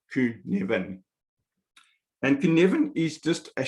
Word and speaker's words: Cynefin: It's pronounced Cynefin.